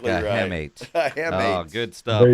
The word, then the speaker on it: hamate: That's the hamate. A hammock. Spell that?